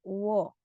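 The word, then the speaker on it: 워: Nah, ini dibacanya huruf wo. Kadang ditulis juga sebagai weo, tapi dibacanya tetap huruf O. Jadi wo.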